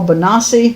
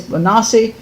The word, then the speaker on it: Bonacci: Okay, there's 2 ways to pronounce his name. In the documentary, a lot of times they say Paul Bonacci. She says Bonacci. I heard other people pronounce it Bonacci, which I think is more Italian. I personally think it's Bonacci, but then I don't know.